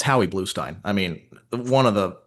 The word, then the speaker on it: Bluestein: I believe it's Bluestein.